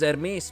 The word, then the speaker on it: Hermes: Hey, actually they pronounce it a little bit better from English actually. The actual name is Hermes, but anyway. At the very least they roll the R nicely.